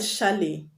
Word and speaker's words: chalet: The word chalet, you don't pronounce it chalet, but chalet.